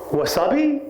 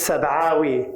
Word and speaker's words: Sabawi: "Yes," I replied, finally a proper pronunciation, until he said, "Wasabi?" "Seriously? Wasabi?" "No, man. My family was not named after the Japanese sushi condiment. It's Sabawi, and it's Palestinian. Get it right."